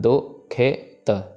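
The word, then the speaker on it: ਦੁਖਿਤ: के दुष्ट दुखित यहां दुखित में एक चीज का ध्यान देना है कि ख में सिहारी है सो ख की आवाज जरूर आनी चाहिए इसका ध्यान देना है दु खेत दुखित सो दुखित हवे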